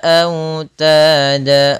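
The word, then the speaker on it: أوتادا: Autada, au di sini yaitu bacaan lin yang lembut di dalam pelafalannya au, sambil dimonyongkan sedikit bibir kita ke depan.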